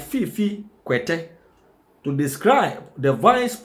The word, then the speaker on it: Fiifi: hardworking vice president indeed honorable fif sorry honorable fif that is the correct pronunciation of his name should humble himself and